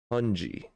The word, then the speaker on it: pungi: Pungi. Pronounced pungi.